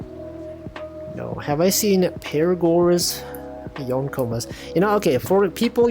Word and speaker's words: yonkoma: You know, okay, for people usually, I always see people pronounce this as Forcoma, and I'm just like, every time I'm just like, that's not how it works. Yonkoma, you know, 4. It's not Forcoma.